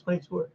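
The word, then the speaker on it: Clegg 22'er: Clegg 22er. That's how you pronounce it. It's 22er.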